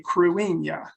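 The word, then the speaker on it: Cruithne: astronomical society of kansas city but the correct pronunciation of this is 3753 cruella and 3753 crewing is an aten asteroid is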